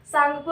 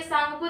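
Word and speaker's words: Tsangpo: जब था तो ये सांगपो रिवर के नाम से जाना जाता था ठीक सांग को के आगे पी लिखा जाता है पी साइलेंट रहता है हम उसे सांग को ही पढ़ते हैं ठीक फिर ये आगे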